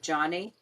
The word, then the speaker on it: Joni: and your time with Joni and Friends? Well, actually, it's Johnny. She pronounces it Johnny. Johnny, Yeah, Johnny. I always said Joni. Isn't that funny? We grew up saying Joni.